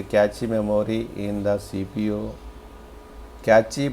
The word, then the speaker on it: cache: Cache, pronounced cache memory is similar to RAM, except that